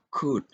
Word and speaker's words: could: Ini yang juga sering salah, would, ya, could. Jadi saat huruf L itu diletakkan atau berada setelah huruf A, O, dan U, dia jarang sekali diucapkan.